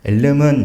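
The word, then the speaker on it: Elm: 엘름은 이제 ML을 뒤집으면 이제 엘름이라는 발음이 돼서 이제 이름이 그렇게 된 걸로 알고 있습니다.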